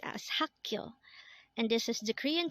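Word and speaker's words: 학교: mul next word is hakyo again this is pronounced as hakkyo and this is the Korean term for school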